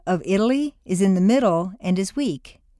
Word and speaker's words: Italy: A T in the middle of a staircase is pronounced as D, Betty, Italy.